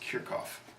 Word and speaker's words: Kirchhoff: simple circuit we've got Kirchhoff's voltage law his current law and I'll repeat again I have heard this occasionally pronounced kick off so here kickoffs law it's interchangeable so his voltage law